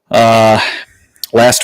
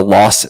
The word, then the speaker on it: Las Vegas: I really like the name that I gave this episode, Viva Las Vegas, because obviously Las, L-A-S, is how you say Vegas.